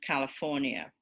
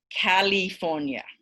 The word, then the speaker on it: California: Think of I don't know how many of you remember when Arnold Schwarzenegger was governor of California, but he always used to pronounce it California.